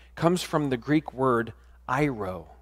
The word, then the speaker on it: airo: Now, that expression, he takes away, comes from the Greek word airo, spelled A-I-R-O, pronounced airo, which means, and listen to this, to raise up, to elevate, to be lifted up.